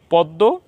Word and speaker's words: পদ্য: আমরা সহজভাবে বলতে পারি শব্দের শেষে যে বর্ণের সাথে জ ফালা আসবে জ ফালা সংযুক্ত হবে সেই বর্ণের উচ্চারণ দুইবার করতে হবে তো আমরা এখানে মধ্য